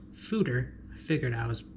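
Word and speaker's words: foeder: a Fodor the beer connoisseur did a photo pronounced Souter I figured I was pronouncing it wrong in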